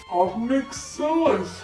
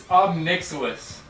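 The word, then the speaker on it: Ob Nixilis: Obnixilis. How are you saying that? Obnixilis. It's Obnixilis.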